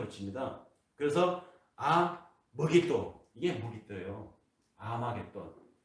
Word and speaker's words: 아마겟돈: 아마겟돈. 그것을 헬라어 음처로 발음을 하니까 머깃돈인데 이것을 헬라어로 음처로 하니까 아마겟돈이라고 하는 것입니다.